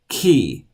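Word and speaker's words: chi: at all its T key it has a sound like in Bach the composer key upper and lower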